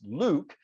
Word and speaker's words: LIWC: invented linguistic inquiry word count or pronounced liwc pronounced Luke and this is a